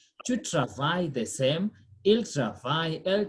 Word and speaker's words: travaille: Remember what I've said, the verb is pronounced the same in the first three persons singular and the plural form.